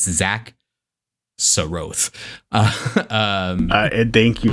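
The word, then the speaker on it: Xak Tsaroth: Zach so uh and that is the canonical pronunciation by the way none of this shakaroth or anything like it's Zach Sroth um thank you like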